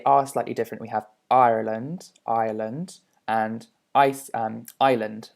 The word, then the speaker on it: Ireland: okay so they are slightly different we have ireland ireland and ice um island sorry and as